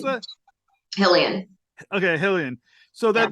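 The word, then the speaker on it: Xahean: So Ensign Kemi, she's also I'm gonna get the we said a Halilean. How do you pronounce Hillian. that? Hillian.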